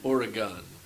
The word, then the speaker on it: Oregon: No, it's Oregon. Yes. Oregon. I've been So your taught medicine that hat at is work. so much easier to pronounce. Yeah, it's gun, like G-U-N. Oregon.